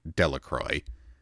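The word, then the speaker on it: Delacroix: Jones and Dicky deacro the villagers pronounced this name delacroy eventually made a great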